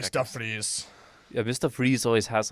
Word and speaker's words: Fries: Freeze. It's a German name. Victor von Fries, I Mhm. think is how they say it. And Yeah, then yeah. he's like, no, it's Freeze.